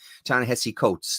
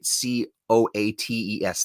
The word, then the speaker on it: Ta-Nehisi Coates: Ta-Nehisi Coates. That's how you say it, right? Coates.